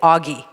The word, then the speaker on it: Oji: that has but it's it's spelled differently yeah because if you actually saw the italian word you would say it augie in our english parlance so that didn't sound